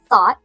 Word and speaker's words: thought: Thought. Thought. We have the unvoiced F at the beginning which you can think of as blowing air between your teeth with your tongue.